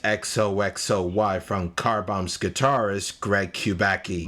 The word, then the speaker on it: XOXOY: Up next, Zoxoy. No, wait a minute. This one's pronounced XOXOY from Carbomb's guitarist Greg Kubacki.